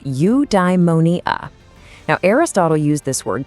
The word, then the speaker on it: eudaimonia: Okay, I've got a new word for you, eudaimonia. It's pronounced eudaimonia.